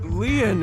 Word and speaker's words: Lien: My name, Lien, is spelled L-I-E-N.